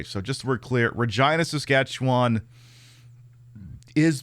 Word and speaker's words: Regina: Hailing from Regina, Saskatchewan, the Waltons have become an It's Regina. No, it is actually is pronounced Okay, so just so we're clear, Regina, Saskatchewan is pronounced that way.